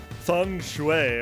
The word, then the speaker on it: feng shui: to find out about feng shui which is apparently pronounced that way which I've always known